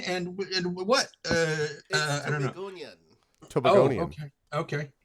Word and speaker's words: Tobagonian: Tobagonian.